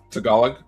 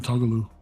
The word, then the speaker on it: Tagalog: Tagalog. Tagalog. Yeah. I was thinking Tagaloo.